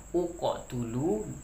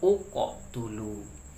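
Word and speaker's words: اقتلوا: Caranya adalah uqotulu, karena huruf ketiganya adalah huruf ta yang berbaris dhammah. Jadi barisnya yang menjadi patokannya. Kalau dia dhammah, berilah baris dhammah. Jadi bacanya uqotulu.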